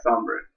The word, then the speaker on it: Sombre: Yeah, Sombre.